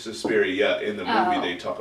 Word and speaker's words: Suspiria: Was it Suspiria or Suspirium? It's Suspiria.